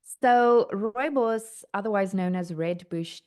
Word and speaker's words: Rooibos: Rooibos. Rooibos. Rooibos. Tell us about that cuz it's a key ingredient in your skin care. So, what does it do for your skin? So, rooibos, otherwise known as red bush tea, is actually